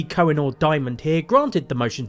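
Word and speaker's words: Coughenour: Counter-Strike Global Offensive US District Judge John C koffer is that how you pronounce it United States District Judge John ker how was I supposed to know that it's spelled cough anyway John C cenor Diamond here granted the motion to dismiss with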